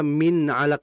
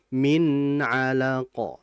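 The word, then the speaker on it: من علق: Nah, izhar ini masuk kategori gunnah yang tidak sempurna. Jadi cukup dialirkan sebentar, sekedap. Ya, kalau bahasa Sundanya mah ya. Kalau Jawanya sedelet. Ya. Jadi ditahan sebentar saja. Iya. Khalaqal insana min 'alaq. Jadi jangan terlalu cepat juga min 'alaq ya. Khalaqal insana min 'alaq. Tidak, harus ditahan min 'alaq.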